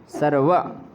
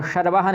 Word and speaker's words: सर्वः: सर्व कह देंगे तो ठीक नहीं रहेगा। सर्व, सर्वः, ठीक है, वाह है, इस वाह का उच्चारण करना है। सर्वाह नहीं, सर्वाह नहीं है और शर्वाह नहीं है।